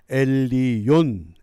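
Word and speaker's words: עליון: 이을 지자 높을 존자 그다음에 놈자 가장 높은 사람 히브리 성경에서는이 지존자를 엘리온 엘리온 이렇게 발음합니다.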